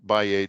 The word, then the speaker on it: x: see X1 X2 by4 by8 by 16 uh this is the number of lanes concurring to create the link so when when you see is pronounced as a by uh El Lane is